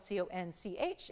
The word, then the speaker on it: conch: talking about the queen conch shell and it is spelled Co n CH it is pronounced Co n k conch so that's the shell